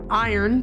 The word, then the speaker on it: Aaron: Aaron, Iron, pronounced as iron because her parents are quirky and different, is chewing her lip, watching the ads for mate bonds on her phone.